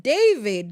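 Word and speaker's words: D4VD: He's David Anthony Burke, D4 VD, but pronounced as David.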